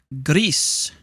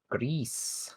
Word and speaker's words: Gris: so the game today this week is called Grease gree and it's uh not a cooking game and